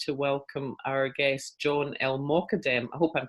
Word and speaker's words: El-Mokadem: And tonight I'm delighted to welcome our guest, John El-Mokadem. I hope I'm pronouncing that right, John.